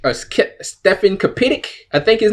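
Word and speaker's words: Stefan Kapičić: I'm trying to pronounce his name. It's Stefan Kapitic, or Stefan Kapitic, I think his name is.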